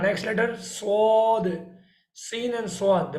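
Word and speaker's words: صاد: Scene and स्वाद, the pronunciation are is same, but scene is light and स्वाद is heavy, so you have to read heavy.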